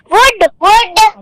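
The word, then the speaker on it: would: अब भी वुड है, तब भी वुड था। तो बेटा फर्क तो पड़ ही नहीं रहा एल के होने ना होने से, इसलिए आपका एल यहाँ पर साइलेंट लेटर है।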